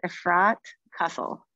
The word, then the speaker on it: Efrat Cassell: You're close. It's Efrat Cassell.